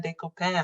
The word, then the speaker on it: Decopain: welcome to the podcast de co-pan how are you thank you thank you so much jocelyn for joseline for him yeah and that's how you pronounce my name because we both have french names and um come from the haitian culture uh so thanks for saying it that way welcome to the podcast